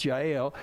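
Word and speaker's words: Jael: I'll say it right looks like jail but it's GI ale in the days of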